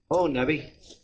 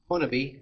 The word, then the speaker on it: Honobia: There's several ways to pronounce it. Honobia. Honobia, I've heard that before. But Honobia it's a Choctaw word.